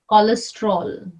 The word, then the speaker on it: cholesterol: Yeah, if there's a CH, it's again pronounced as K, like cholera, cholesterol.